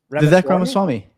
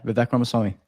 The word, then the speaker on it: Vivek Ramaswamy: Hopefully I pronounce it right. Is it Vivek? Vivek Ramaswamy. Ramaswamy, okay. Yeah. Vivek Ramaswamy.